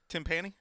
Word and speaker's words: timpani: Timpani? Timpani? Did we ever get the correct pronunciation on that?